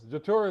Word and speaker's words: Jetour: It's J-E Tour. Jetour. Yeah. It's like Je t'aime. It's like the French.